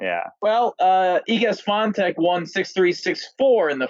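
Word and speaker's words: Świątek: How do we pronounce her name? You guys were on that last week. What was it? It's Swiatek. It's close, and okay. I might be off a little. It's Iga Swiatek.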